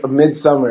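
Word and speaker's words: Midsommar: villain in that film no mid sumar you mean midmar yeah Midsummer is how it's pronounced oh okay like uh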